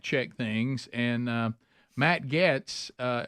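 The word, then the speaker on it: Gaetz: things and uh Matt Getz uh is that you say his name yeah gets Gates yes yes uh he he is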